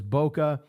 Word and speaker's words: bokeh: The bokeh. You also hear it pronounced as bokeh.